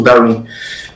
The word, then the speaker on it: Darwin: Mas a pronúncia certa é com W em inglês, é como se fosse o Darwin.